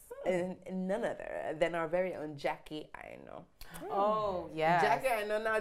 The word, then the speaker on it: Aina: So it's not Aina. No. Because that's what I call it. I call it Jacqui Aina. Yeah. I know. It's spelled A-I-N-A, but it's pronounced Aina.